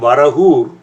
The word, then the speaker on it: Varagur: abode of the bore in tamil it became varahul and today due to a bad spelling it is spelt as varagum like v-a-r-a-g-u-r varagur in all over the place for those who desire